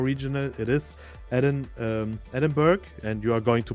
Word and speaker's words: Edinburgh: But uh apparently it's Edinburgh. Edinburgh. Yes. I will be playing in Edinburgh.